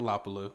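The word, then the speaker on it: Lapilus: I like the Lapilou. I think that's how you say it. I would think, right? I believe, is he French? That's what my notes say. Yeah. Right. I think he is French, so you drop the S.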